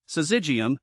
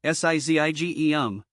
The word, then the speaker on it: Syzygium: But fear not, pronouncing it is easier than it seems. Here's a quick breakdown. Syzygium, Syzygium.